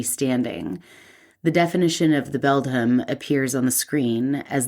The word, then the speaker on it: Beldham: I thought for sure it was Bedlam forever. It's you did the dyslexia switch. I did. Yeah. But it's Beldham. Beldham.